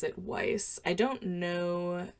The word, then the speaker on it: Weiss: Well, I would pronounce it Weiss well, first of all, because there is a grocery store named, and everyone calls it Weiss. But also in the movie Rocky Horror, we get confirmation from Janet that it is pronounced Weiss. She even corrects Brad. However, are you about to